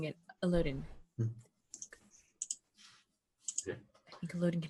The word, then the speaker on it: Illidan: Am I saying his name wrong? Illidan.